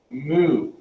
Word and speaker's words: mu: the um is is the greek letter pronounced mu like what a cow says but this is going